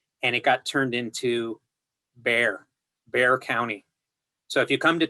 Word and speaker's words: Bexar: So if you come to Texas, people literally say Bear County. And it's like, wait, it's got an X in the middle of the word. Like, I mean, isn't that even a glottal stop? It's like, no, it's just Bear County. So yeah, you're right. It's spelled Bexar. And if it was pronounced by people outside of Texas, it would be Bexar County. But in Texas, it is Bear County.